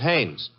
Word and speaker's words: Haines: used to fish uh no no not Heinz hain couldn't be hummingbird no it